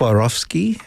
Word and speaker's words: Swarovski: You're going to have to help me with this because maybe my wife knows how to pronounce it. But okay, what is it? Swarovski.